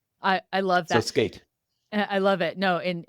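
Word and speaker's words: SCAIT: um skate spelled s c AI T and pronounced skate and it stands for speaker coaching was in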